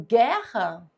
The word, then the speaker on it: guerra: Então, por exemplo, se eu digo guerra, esse GU aqui forma dígrafo, porque eu não falo guerra, eu falo guerra.